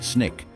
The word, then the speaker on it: SNCC: This grassroots movement led to the formation of a new vital organization, the student non-violent coordinating committee, or SNCC, pronounced SNIK, comprised of young, impatient, and fiercely dedicated activists like Diane Nash and John Lewis.